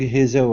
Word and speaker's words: hazel: Big hazel eyes. Hazel. Now give me an L at the very end. Instead of saying Hazel with an oo sound, it's Hazel. Hazel.